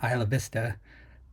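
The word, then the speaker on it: Isla Vista: admitted incel who went on a rampage in Isa Vista I put the the correct pronunciation in there for Isa it's not Isla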